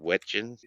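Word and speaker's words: Wetjen: Wetchin.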